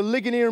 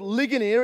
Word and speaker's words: Ligonier: art C Sproule he founded a ministry called Ligonier it's spelt Li gon ier Li gon ier and